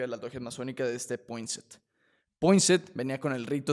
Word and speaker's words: Poinsett: claro, entonces, Poinsett, ¿sí se pronuncia así?